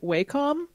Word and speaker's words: Wacom: I went to a convention that was sponsored by Wacom, but they pronounce it Wacom, and I refuse to say that.